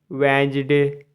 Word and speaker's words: Wednesday: WEDNESDAY वेंसडे, यहाँ भी D silent रहता है, बुधवार।